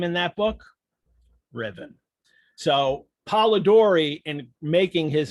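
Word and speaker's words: Ruthven: the story is named lord riven now it's pronounced riven it's pronounced it's spelled ruth then r-u-t-h-v-e-n oh you can see it right there on the page um it's pronounced ribbon lady carolyn lam was a mistress of byron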